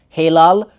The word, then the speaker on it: Hilal: Hilal. That's my name. Or if you want to pronounce it like the Turkish way, Hilal, which means crescent moon.